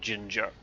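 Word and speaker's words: Jinjer: Another band I really like that I'll plug is a band called Ginger, who are from Ukraine, like the spice, but spelt with a J rather than a G at the front.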